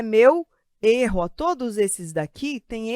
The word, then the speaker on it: erro: este tipo de pronúncia gosto consolo e erro fechado são fechados a gente faz assim biquinho fechado e aqui é o bico aberto eu gosto eu consolo e eu erro então são sons abertos sem o acento lembrem